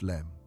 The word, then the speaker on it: LM: the lunar module, the LM pronounced LEM.